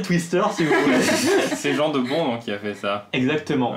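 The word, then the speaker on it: Jan de Bont: Il s'appelle Yann de Bon. Yann de Bon. Aussi, ouais. Il est européen, je le prononce à la française, je me permets.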